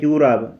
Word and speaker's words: جوراب: اس کے بعد لفظ جوراب۔ یہ بھی فارسی کا تلفظ ہے، اس پر غور کریں، جوراب۔ جوراب وہی جوراب۔ ہم جیم پر زبر پڑھتے ہیں اور فارسی والے جیم پر ضمہ پڑھتے ہیں۔ ہم جوراب پڑھتے ہیں